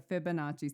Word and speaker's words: Fibonacci: I say it right you did it's the Fibonacci sequence it's actually really funny cuz Tiara was